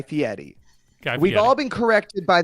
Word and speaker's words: Fieri: And his name is actually Guy Fieri.